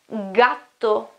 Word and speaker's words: gatto: We call it G, but when we pronounce it, it is normally G, G, so it's a hard sound, okay, it's a mute sound. Like, for example, in the word gatto, gatto is cat, okay?